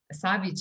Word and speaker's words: Savić: souls from this planet i am savic savage is actually my pronunciation i know but a lot yeah a